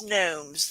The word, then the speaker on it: gnomes: It's gnomes. The G is silent.